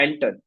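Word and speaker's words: Anton: एक बहुत ही अच्छा फॉन्ट आता है अह ग्राफिक डिज़ाइन के लिए जिसको हम कहते हैं एंटर। जिसका स्पेलिंग होगा ए एन टी ओ एन पे ऑल रिजल्ट्स में एंटर होगा।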